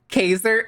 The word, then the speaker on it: Caesar: Did y'all hear the name? Kaiser? It's Caesar. It's definitely a Japanese game because that's the Japanese fucking pronunciation of Caesar.